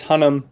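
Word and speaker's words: Hunnam: last name do you what oh yeah it's hunnum because i think there's an m yeah m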